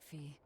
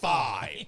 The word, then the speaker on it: Phi: Isn't that right, Fee? Huh? Fee? It's your nickname. Not a whole lot of thought put into it, but... You're you. That's You're Phi. Fee.